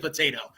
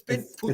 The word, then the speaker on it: Poteet: And I keep saying it's potato. It's Poteet.